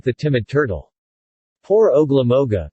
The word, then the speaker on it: Ogla-Moga: cruel and despotic government ogla Moga yes ma'am that's his name among the tribe I'm the agents deputy we called him ugly monk and that was the way the Indians pronounced it it is ugly you